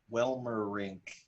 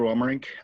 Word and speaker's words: Welmerink: yeah we have peter wilmer rink yeah i did it i did it i didn't butcher the name yep if you do it in three syllables it it's perfect all right sweet so